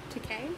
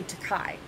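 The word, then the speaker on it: Takei: george from star trek to k to k i always want to say takai but it's that's right it's okay um it was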